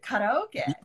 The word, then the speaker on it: karaoke: using the japanese word karaoke and not the english version do you know how to say karaoke in english uh karaoke karaoke carol karioki so like carrie carey something oh yeah oh key karaoke karaoke yeah karaoke okay